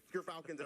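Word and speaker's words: Gyrfalcon's: We actually, off screen, we're figuring out how it's pronounced. But Gerfalcons, everyone.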